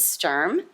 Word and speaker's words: Sturm: To Kevin's left is James Sturm. Am I pronouncing that correctly?